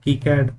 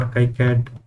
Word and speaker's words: KiCad: One neat thing about KiCad or KiCad, how you want to pronounce this, uh, it comes with differential pair routing.